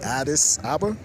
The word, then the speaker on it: Addis Ababa: I think Addis Ababa.